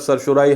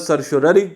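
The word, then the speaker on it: certiorari: Pronounce किया जाता है, दो के इसकी प्रोनाउंसिएशन बेसिकली ये होनी नहीं चाहिए। रिट ऑफ सरशोररी इसको कहते हैं, रिट ऑफ सरशोररी क्योंकि लैटिन का लफ्ज़ है, तो इसका जो बेसिक प्रोनाउंसिएशन है वो रिट ऑफ सरशोररी होना चाहिए।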